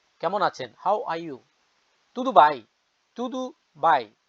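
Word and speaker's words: tudo bem: হাউ আর ইউ কেমন আছেন হাউ আর ইউ তুদু ভাই তুদু ভাই উচ্চারণ কেমন আছেন তুদু ভাই পর্তুগিজ আপনি থ্যাংক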